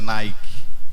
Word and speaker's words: Nike: uma de grandes campeões que a gente pronuncia Nike Então essa expressão Nicole